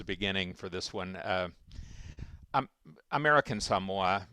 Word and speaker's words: American Samoa: Um, American Samoa, pronounced America Samoa by the Samoans, is a United States territory, and it's been a territory of the United States for 120 years.